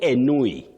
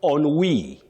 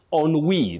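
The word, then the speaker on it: ennui: Don't say anui. Enui. No, you say oni. On we. That word is from French. On we. In American English, you'll hear of ani.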